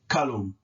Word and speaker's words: kalum: The U goes between the L and the M, and it's pronounced kalum because the K is hard. So it makes the vowel A hard, and a hard A vowel sounds like what?